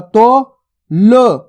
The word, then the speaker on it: तोल: अब देखो ला का उच्चारण किस प्रकार से हो रहा है, यहाँ पे ल पूरा नहीं हो रहा। ला का उच्चारण आपको पूरा नहीं करना, आधा ही करना है। किस प्रकार से करेंगे? ता में ओ की मात्रा तो ल, तोल। सिंपल है। अगर आप ला ला करके पूरा उच्चारण करोगे तो आ की मात्रा लग जाएगी इसके अंदर, तो गलत हो जाएगा शब्द।